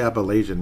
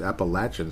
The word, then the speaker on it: Appalachian: receiver Appalachian State and that is how you say it apparently not I used to say Appalachian many years ago it's Appalachian State which sounds kind of cool Bryant kobak out of